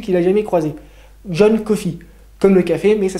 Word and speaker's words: Coffey: étonnant des détenus qu'il a jamais croisé, John Coffey, comme le café, mais ça s'écrit pas pareil.